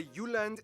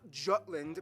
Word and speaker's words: Jutland: Denmark is made of the Jutland, not Jutland, peninsula that connects to Germany in the south, as well as 1,419 islands. Of those, only Jutland.